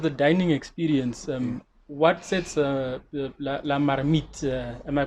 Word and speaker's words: La Marmite: And in terms of the dining experience, what sets La Marmite, am I pronouncing it correctly? La Marmite.